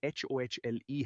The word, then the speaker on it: होली: और उच्चारण को स्पष्ट करने के लिए ये HOHLE है, तो आप काफी करीब थे।